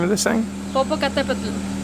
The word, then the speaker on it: Popocatepetl: Karina, can you tell us how to properly pronounce the name of this thing? Popocatepetl. Popocatepetl.